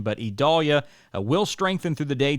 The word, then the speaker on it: Idalia: date again expecting uh idolia it's very hard to say Idol yes if we're used to saying Vidalia but a little different pronunciation but idalia will strengthen through the